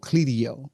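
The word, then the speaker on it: Clideo: If you go there it's a it's a uh site called uh it's called Cleio. It's spelled C L I D E O.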